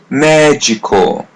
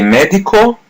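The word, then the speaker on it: médico: As you see, letters D I are pronounced as G. Magical. So don't say medical. Say magical. Magical means a male doctor.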